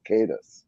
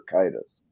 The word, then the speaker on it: Caedus: Jason was Jason Solo, who would later become Darth Caedus or Caedus, depending on which way you pronounce it, the Latin word Caedus.